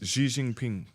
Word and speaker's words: Xi Jinping: I've also seen that the Chinese, how do you pronounce his name, Nathan? Xi Jinping. Xi Jingping.